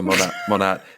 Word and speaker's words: Monat: It's the Monat. Is it Monat or how do you pronounce it? Think of it this way: modern, Oh yeah, modern nature, right?